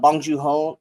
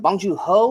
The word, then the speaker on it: Bong Joon-ho: This was Bong Joon-ho. Is it Bong Joon-ho or Bong Joon-ho? Bong Joon-ho. Oh, okay. I thought I was always saying it right, and apparently, I thought I was saying it wrong.